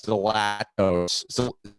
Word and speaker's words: Zalatoris: And then Williams Zalatoris.